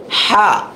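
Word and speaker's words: ح: হা তারপরে কি আছে হা এটা গলার ভিতরে যাবে চেপে আসবে হা কি হবে হা তারপর আছে খ এক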